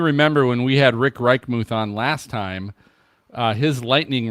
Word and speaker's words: Reichmuth: How do you pronounce his last name? Reichmuth.